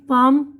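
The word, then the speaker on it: palm: यह देखिए इसमें देखिए यहां पर बता रहे एल साइलेंट है हथेली पाम काम सुकून हाफ निस्फ यानी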